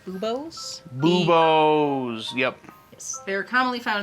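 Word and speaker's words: buboes: the bubbling okay and i believe it's pronounced boobos yep yes they're commonly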